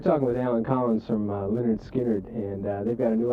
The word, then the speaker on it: Lynyrd Skynyrd: Like Lynyrd Skynyrd, pronounced Lynyrd Skynyrd, people think is the first album.